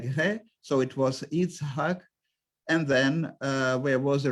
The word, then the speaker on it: Yitzhak: And in the modern period in Ashkenazic community, this was the most standard way of pronouncing it, this name in the synagogue, Yitzchok, and Yitzhak was the vernacular form.